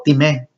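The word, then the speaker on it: τιμή: Esta palabra proviene del griego time o timé, con acento en la E, la cual demuestra que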